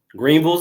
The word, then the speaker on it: Greenville: Greenville's own. I say it right, Greenville, not Greenville. Greenville.